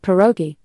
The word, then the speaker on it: pierogi: In English, you'll see spellings like pierogi, most common, and sometimes pierogi.